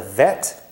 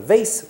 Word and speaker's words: vet: This is the letter vet. Vet. Ashkenazim call it a vase. We're going to go with vet, the modern Hebrew pronunciation.